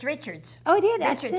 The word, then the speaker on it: Richards: It's Richards.